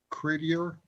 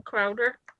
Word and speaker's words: Crowder: John Credier, is that how you John pronounce Crowd. his last name? John Crowder. Crowder.